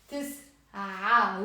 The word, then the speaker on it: تسعة: This is also a little tricky to pronounce because it has the عين. تسعة with the A. تسعة. Here, you can see it. It becomes تسع.